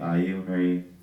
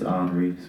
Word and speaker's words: Iunre: you anyone pretty good some people say aunry hry um but it's French for Henry my name is hre Jr AKA